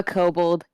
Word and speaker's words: kobold: there you a kobold i sure am a kobold yeah you would be correct and that's the right pronunciation too the best friend that i could